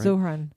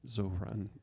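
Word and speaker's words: Zohran: Zoran. Zoran.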